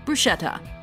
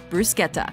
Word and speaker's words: bruschetta: notes number 10 bruschetta common mispronunciation bruschetta correct pronunciation Bruce Guetta I hate to go